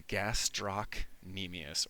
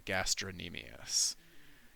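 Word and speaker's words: gastrocnemius: This is the gastro nemius or the gastronmus. It has a C in it.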